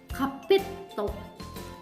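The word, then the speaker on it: カーペット: Oke, hai, karpet, kapeto, ya, kapeto, double T, ya di sana pelafalannya. Kapetto, kapetto.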